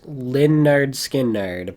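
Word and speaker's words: Lynyrd Skynyrd: the greatest southern rock album ever made uh pronounced lindard skin nerd by leonard skinner and um what else is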